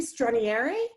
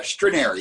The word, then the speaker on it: Stranieri: it stronier no how do you pronounce it like basically they're strainery yes perfect canary okay we've americanized it it was probably at some point when your ancestors immigrated here that's right okay so stranieri